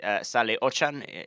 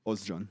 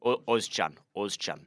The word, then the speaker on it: Özcan: So Salih Ochan, is that the right pronunciation? Özcan. Yeah. Ozcan.